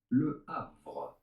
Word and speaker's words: Le Havre: In France, we would say it as Le Havre. Of course, the H is silent in French.